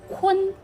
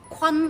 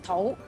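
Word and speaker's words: 堃: 嗱，呢個字普通話讀坤，粵語讀坤，唔好讀成方，亦都唔好讀成土。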